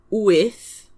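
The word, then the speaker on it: wyth: 8 is with. That's W Y T H with nine is now.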